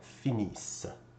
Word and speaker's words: finissent: finissez, and then again, ENT is not pronounced at the end of a verb, so this would be pronounced il, elle. Notice I did not pronounce the S over here. Il, elle finissent.